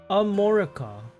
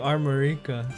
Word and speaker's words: Armorica: Um, Tati saying the official pronunciation is more Amorica. Amorica. Very Caribbean. Yeah, I don't know. I've just been saying Armorica. So, it's more like Amora.